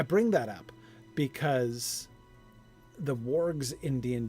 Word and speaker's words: warg: Oh, with my pronunciation of warg. Oh, no doubt. Then it should rhyme with hard rather than horde.